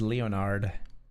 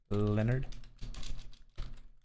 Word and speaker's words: Leonard: Is there any other English word where the eo is pronounced the way it is in Leonard? Leopard Leonard. Of course, I should have thought of Leopard.